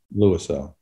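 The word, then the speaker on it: Louisell: It's going to be Neil Fink and Joseph Lorisau. Is that how you pronounce it? Lorisau.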